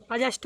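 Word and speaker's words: adjust: अब है चौथा नियम, देखो यदि किसी वर्ड में डी के बाद, ठीक है, जे हो तो डी यहाँ का पढ़ी अपन साइलेंट हो जाए, डी का हो जाए साइलेंट। देखो मीनिंग लिख दें ADJUSE, ठीक है। ये का पढ़ी अजस्ट मतलब का हो सावधान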